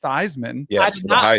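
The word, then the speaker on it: Theismann: did you know that it was Joe thesman before he changed his name to Joe thyman Theisman race yes he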